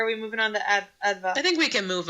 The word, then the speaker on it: Adva: Think about the word advanced, but in a British accent. So advanced. Advanced. So don't say the st. It's Leviosa. Exactly. So say advanced without the ending, and that's my name right there.